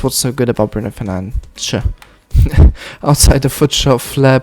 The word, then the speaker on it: Fernandes: Bruno Fernandes. Or Bruno Fernandes, as he said, you know, is the right pronunciation.